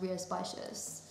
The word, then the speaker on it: Rías Baixas: I had to Google how to pronounce that because you would never know from the spelling that it's pronounced Rías Baixas.